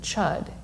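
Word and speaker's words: Chöd: comes with the ancient esoteric buddhist practice of chud it's spelled c-h-o-d with a diacritical mark over the o and it was developed by a tibetan nun named matrig labdron in 1055.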